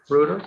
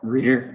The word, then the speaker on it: Reuter: Are you Reuter? Reader, yes, sir. How do you say it? Reader. Reader, sorry about that.